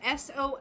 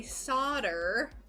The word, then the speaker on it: solder: It's spelled S-O-L-D-E-R, and us Americans say solder. And then literally everywhere else in the world says solder, and it sounds beautiful.